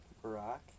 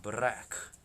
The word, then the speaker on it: Barack: spelled with one R Barack no it's Barack not bra all right save clip